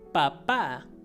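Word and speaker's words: papá: means for example papa papa which means that however make sure you put the accent in the end because if you say if you don't have the accent it means potato so papa means dead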